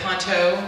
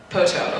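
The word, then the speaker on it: Poteau: Is it Ponto, Oklahoma? Poto, okay, Poto, Oklahoma, has some really excellent PDFs,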